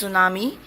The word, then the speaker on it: tsunami: Yes, it's tsunami. T is silent.